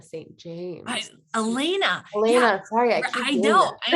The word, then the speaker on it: Elaina: a day in the life of or Elana St James Elena sorry I I know I know it's tough